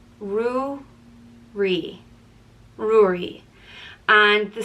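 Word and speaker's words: Ruairi: name it means red or King and it's pronounced rui ruri and the spelling um can be simplified you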